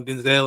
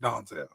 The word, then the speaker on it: Denzel: pictures like you know Denzel and all them. My bad. Donsel. He said his mother name pronounc No, his name is pronounced Donsel.